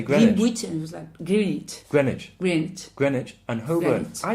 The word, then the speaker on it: Greenwich: was in London yeah and you say great Greenwich wint Greenwich and Herbert's I didn't know how